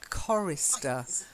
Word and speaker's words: chorister: a choir is a chorister so it's a hard C sound chorister try it chorus that